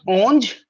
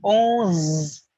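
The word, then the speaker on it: onze: for you all right oh oh it's not orange it's owns now those now do's now those guys now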